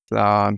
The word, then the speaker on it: Slán: Slán is just bye. It's Irish. Okay. But it's spell it for everybody. SLA fada N, but you don't say fada. It's just an accent mark.